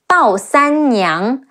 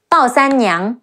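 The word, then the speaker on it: 鲍三娘: And another incredible female warrior, Bao Sanniang, Bao, Bao, Si An San. Remember the rule? Si An San, Ne Yi Ang, Niang, Bao Sanniang. Bao Sanniang, she's a possibly fictional character who married to Guan Suo.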